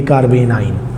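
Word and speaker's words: carbanion: कार्ब एनाइन मिला के इसे प्रोनाउंस करेंगे कार्बेन आयन।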